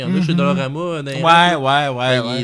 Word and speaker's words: Dollarama: Personne n'est capable de prononcer le nom, ni de l'écrire comme du monde. Dollarama? C'est toujours Dolo. Dolo. Dolorama, le monde.